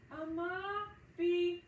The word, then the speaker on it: Amabie: Amabie.